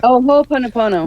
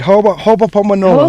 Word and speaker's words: Ho'oponopono: It's the Ho'oponopono. That's it. That's right. Ho'oponopono. Ho'oponopono literally means making it right twice.